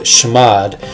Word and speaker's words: chmod: And chmod, or some people pronounce it shmod, basically stands for change mode.